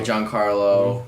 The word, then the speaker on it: Giancarlo: Yeah, Giancarlo.